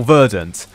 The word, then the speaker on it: verdant: Did I really pronounce that French? It's vdon. It's vdant or verdant, not von.